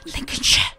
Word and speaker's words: Lincolnshire: Man named arrived I think it's pronounced Lincolnshire.